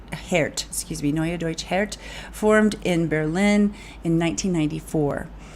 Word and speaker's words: Neue Deutsche Härte: okay, I looked up how to say this, Neue Deutsche Härte, which means new German hardness band. Neue Deutsche Härte, Neue Deutsche Härte, formed in Berlin in 1994.